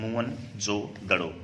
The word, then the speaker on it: मोहनजोदड़ो: तो एक याद रखेंगे, मोहनजोदड़ो का जो एक प्रकार से शाब्दिक अर्थ है उसका मतलब रहता है मुर्दों का टिल्ला। मुवन जो दड़ो इसका जो है सही उच्चारण होता है मुवन जो दड़ो, अर्थात मृतकों का या